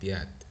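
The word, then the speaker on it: пять: Notice that I'm not saying piat, making it I'm not emphasizing the letter T, I'm saying piat, right? That is because of the Miyagi snap there at the end. My soft sign actually it influences the way I pronounce piat, right?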